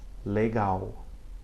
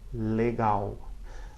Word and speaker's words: legal: It sounds like the OW or the W at the end of the word cow in English.